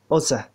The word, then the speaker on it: osa: The next is take osa. Don't take dokoze. Take osai. Don't take moikose. For many people. Osa dokoze osai moikose. You pronounce that way.